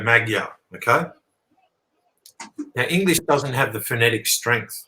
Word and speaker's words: Magyar: referring to Maja okay if you were to basically pronounce m-a-g-y-a-r in English you'd go Magyar okay now English doesn't